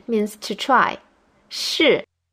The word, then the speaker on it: 试: 试. It has the same pronunciation as 是, which means to be.